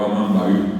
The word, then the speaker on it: amambaí: Es el amambay o amambaí, bien pronunciado. Allí aparece en ba.